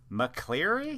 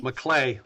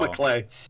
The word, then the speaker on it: MacLeay: And then McClary. Mcclelay. The R is silent. Oh, Mlay.